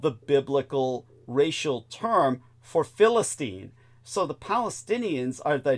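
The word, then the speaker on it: فلسطين: In fact, in Arabic, it's it's pronounced Philistine.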